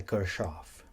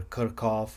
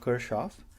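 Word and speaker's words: Kirchhoff: the procedure outlined by Kirchoff. Just a note on the pronunciation. Many of even my electrical engineering colleagues say either Kirchoff or Kirchoff. Those are German pronunciations of this name.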